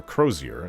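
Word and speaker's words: Crosier: one is called the oak and crossier or crozier is how she pronounced it the other is called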